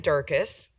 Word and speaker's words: Durkis: So my name is Durkis, rhymes with circus, so that works.